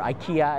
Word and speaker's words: IKEA: So I get my stuff in there, tables, and you know, it's a little bit cheaper than IKEA or IKEA, as the Americans say.